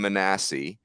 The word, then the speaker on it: Manassi: But I felt like Cole Rowland and Cam Manassi being, by the way, it's pronounced Manassi like Jack Manassi. It literally says the word ASS in the pronunciation guide, which is amazing.